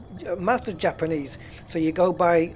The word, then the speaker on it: Mazda: I think the Z is like a ZU kind of thing, Mazda. So Mazda is Mazda, correct.